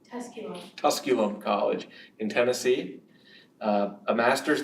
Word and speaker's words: Tusculum: she has her bachelor's degree in English from tuscallum college did I pronounce that correctly Tusculum College in Tennessee a master's degree in creative